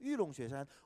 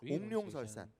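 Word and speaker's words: 玉龙雪山: 그리고 쉐산이 설산을 이제 중국어로 발음하면 쉐산이 됩니다. 그래서 위롱쉐산, 옥룡설산 오, 명산이죠.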